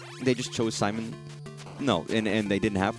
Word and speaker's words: Simon: shouldn't have pronounced it, they should not have pronounced it like Simone. That was probably meant to be Simon.